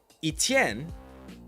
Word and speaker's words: Etienne: he entered the league Etienne um that's the French way to pronounce it. Etienne.